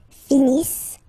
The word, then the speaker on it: finissent: So remember, as usual, when we get the verbs, E and T not pronounced. Ils finissent.